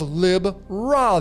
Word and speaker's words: Libra: has the constellation of Lib Ra there. Lib Ra. Some of you pronounce it Libra. For me, it's Lib Ra.